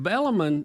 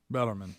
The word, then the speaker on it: Bellarmine: mm-hmm and but but but bellamon bella got an r on it yeah bellarmine and i'm just saying